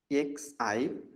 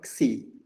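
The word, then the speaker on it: ξ: Xi. Xi. Suppose we have here, we say mixi. Actually mixer, but in ordinary day-to-day colloquial usage we have mixi or dixi. So xi, this sound.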